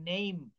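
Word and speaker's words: name: যেমন নেইম, এই নেমই বলবো না, ইটা বলা যাবে না, নেইম।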